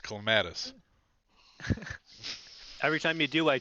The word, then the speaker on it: clematis: pronounce that first word it's pronounced clematis every time you do